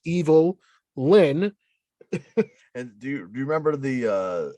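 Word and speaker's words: Evil-Lyn: of those people that thought her name was Evelyn and they were just calling they were just pronouncing it funny but her name is evil Lin and do you remember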